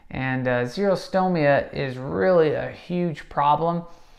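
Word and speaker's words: xerostomia: mouth we call it zero stow Mia that's spelled with an X and zero stow Mia is really a huge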